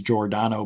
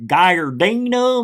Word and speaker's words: Giordano: but way worse like my last name's Giordano but it's spelled Gio and everybody guy or Dino Mr uh no joke Mr I'm like where is there a Nomo in there where do you see